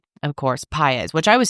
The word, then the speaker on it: Paiz: Of course, Paiz, which I was saying that wrong last week, huh?